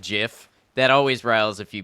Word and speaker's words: GIF: rils a few people my stance in the debate is that either is acceptable I'm not saying JF is the right way but I am saying it is an acceptable way I don't I don't